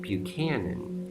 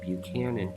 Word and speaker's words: Buchanan: playing with ideas but the CH in Buchanan is not your typical CH ellie's phonetically because the